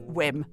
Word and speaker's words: Wim: so I talked about Vim Hof the scandy turns out Wim Hof is Dutch and his name is pronounced whim you're so well prepared